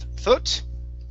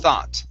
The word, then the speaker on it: thought: one here is thought instead of thot it's thought thought okay all right very